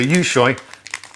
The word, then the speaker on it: Yushui: So Yu is pronounced you, and Shui rhymes with boy. So I got it right first time. Yeah, so Yushui, oven-baked pea snacks, lightly sea salted.